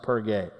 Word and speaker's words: Perge: The group leaves Cyprus and sails to the mainland of Asia Minor, Turkey, and to the city of Perge, pronounced Perge.